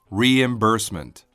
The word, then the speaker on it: reimbursement: Reimbursement. Reimbursement. 오늘의 첫 번째 단어 reimbursement입니다. 발음 주의하세요. re임이 아니라 reimbursement.